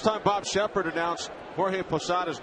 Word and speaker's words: Posada: Bob Shepard announced Jorge posada's name during the 1995 Division Series pada came in to pinch run for Wade bogs and in a rare Gaff Shepard pronounced Jorge's last name Posado instead of Posada and from that day